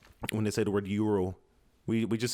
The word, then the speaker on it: euro: That's the funny thing about in Slovak when they say the word euro. We just say euro. They say euro because they pronounce the E and the U, so it's euro.